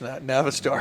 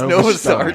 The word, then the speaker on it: Novistar: I didn't know it was pronounced Navistar. It's pronounced Novistar, just in case you weren't corrected.